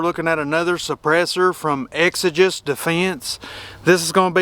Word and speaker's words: Exigent: It kills him when somebody pronounces the name wrong. It is Exigent Defense.